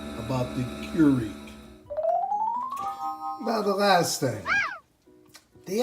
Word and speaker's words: Keurig: One way, perhaps, is Keurig, but a closer way, according to the internet, is Keurig.